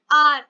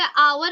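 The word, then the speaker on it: hour: एन आर, इसे आवर भी नहीं बोलते, हावर भी नहीं बोलते, आर, ठीक है।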